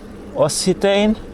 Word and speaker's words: Occitanie: How do you pronounce this region? Occitane? Occitanie? Occitanie.